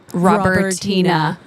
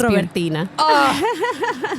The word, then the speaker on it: Robertina: So, in my silly, plain English accent, it would be Robertina. Yes. Okay, that doesn't sound as cool. No. You say it again. It's Robertina.